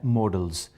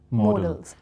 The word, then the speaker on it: modal: primary auxiliary verbs and models now people often pronounce uh this word as model that is wrong it should be morals because models m-o-d-e-l that